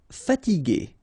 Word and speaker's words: fatiguer: Okay, remember that we had this G and E normally, so G, E, R without the U should be pronounced like G. Okay, so if you want to modify the sound and then to have this G, okay, you will have to add this U between the two.